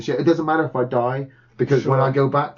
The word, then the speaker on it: id: 2016 though comes around and id Software, I'm going to say it right, id, not ID.